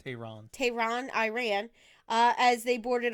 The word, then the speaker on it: Tehran: That would be pronounced Tehran.